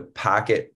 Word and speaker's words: PKT: So first and foremost, the Packet project, which is spelled PKT, is a fully open source decentralized project in the truest sense.